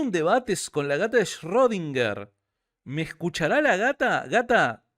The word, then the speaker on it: Schrödinger: la edad swinger shorts rodinger schrödinger perdón así se pronuncia quiero un debate con